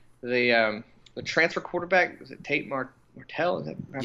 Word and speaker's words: Tate Martell: I didn't see the game, but the transfer quarterback, was it Tate Martell? Am I pronouncing that correctly?